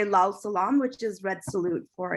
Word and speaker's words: Lal Salam: And if you're in South Asia, you would say Lal Salam, which is red salute for International Workers' Day.